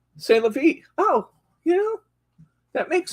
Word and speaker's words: C'est la vie: Oh, this is, how would you pronounce that? C'est la vie. C'est la vie.